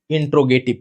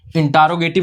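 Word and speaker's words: interrogative: इंट्रोगेटिव, ठीक है, spelling देखिए थोड़ा सा जटिल होती है, याद रखेंगे आप लोग, इंट्रोगेटिव, इंटारोगेटिव नहीं पढ़ेंगे, इंट्रोगेटिव पढ़ेंगे ध्यान से, ठीक है।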